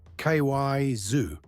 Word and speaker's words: Kaiser: Ky zoo.